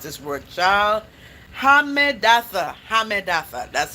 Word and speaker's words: Hammedatha: Hammedatha. That's how you pronounce it.